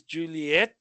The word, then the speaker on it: Juliet: The correct way to say J is Juliet with the emphasis on the ET at the end.